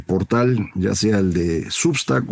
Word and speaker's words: Substack: ya sea el de Substack o el de Patreon, que ya sabe usted se pronuncian Substack y Patreon, pero todos los conocemos como Substack y Patreon.